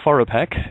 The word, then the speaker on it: FOROPAQ: The email address, Lisa, it's pronounced Foropaq.